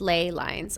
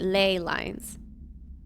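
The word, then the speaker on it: ley lines: like in connection to sounds like lay oh lay lines pronounced lay lines okay lay lines I've never heard of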